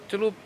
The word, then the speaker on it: Club: Bacanya bukan klub, klub. Celup, celup, celup, Hmm. celup, celup, celup gitu.